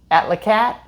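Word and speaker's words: Atlacatl: At La Cattle, At La Cat. Yes, the L is silent at the end.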